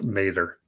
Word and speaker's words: Mather: name of Frederick Ellsworth Mather or Mather I believe it's pronounced Mather and they've got some